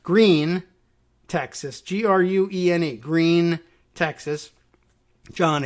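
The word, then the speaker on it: Gruene: But Berne, Texas, and that there is also a Grune, Groony, or I suppose if you were thinking Bernie, maybe that's Groony, but no, it's just pronounced Green, Texas.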